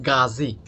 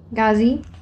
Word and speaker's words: Gazi: you say your name we call it gazi z a z i gazi yeah all right okay